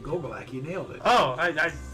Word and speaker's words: Gogolak: By the way, good pronunciation. Gogolak, you nailed it.